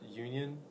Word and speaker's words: Union: Onion Station. What is? I think it's pronounced Union.